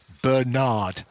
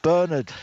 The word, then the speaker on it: Bernard: I've now found documentary evidence that he does not pronounce his name Bernard. He pronounces it Bernard.